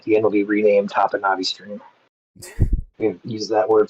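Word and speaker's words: Topinabee: Okay, someone says the pronunciation you're using is correct. Technically, the locals use the modernized pronunciation, but based on native pronunciations, you are correct.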